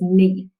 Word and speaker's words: knee: gnome all right good the same thing with k n the k is silent so we mark it